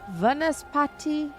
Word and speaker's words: Vanaspati: Vanaspati. How do I pronounce that, Barney? Vanaspati. Vanaspati? Vanaspati. Va or v? V. Venice. Vanaspati.